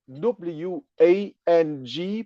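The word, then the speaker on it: 王: So, I would like to keep on my presentation with explaining the character Wang, W-A-N-G, pronounced at the second tone, which is the Chinese word for king.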